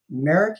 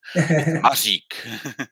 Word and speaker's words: Mařík: uh Merrick. Am I saying your name right? Uh no chance to say it right. We are only nation uses this sound. So Majik Majik.